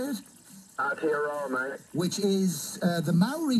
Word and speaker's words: Aotearoa: Aotearoa, mate.